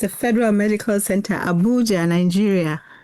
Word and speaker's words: Abuja: and she's working at the Federal Medical Center Ubaja, Nigeria. Now, Hinder, if I pronounced that correctly? Yeah, it's a federal medical center, Abuja, Nigeria.